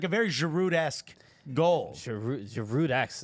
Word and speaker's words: Giroud: Giroud-esque. You pronounced the D. Giroud-esque. Because if not, it's Giroud-esque, which I'm not sure.